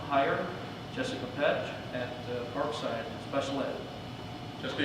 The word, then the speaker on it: Petch: Staffing, we have 1 hire, Jessica Petch at Parkside Special Ed. Jessica, you want to stand There she is. Now say it correctly, Petch? Yep, Patch, Yeah.